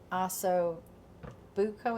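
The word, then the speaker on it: osso buco: first and okay next next we'll take the oo Buco is that how I pronounce it that is how you pronounce it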